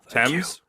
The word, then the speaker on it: Thames: Heat going on yeah is that how you pronounce Thames it's attempts Thames yeah bastards that's right it's weird it spelled